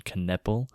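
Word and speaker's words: Knueppel: They that Kon Knecple.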